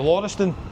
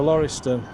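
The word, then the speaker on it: Laurieston: How do you pronounce that? The Lorston. The Loriston.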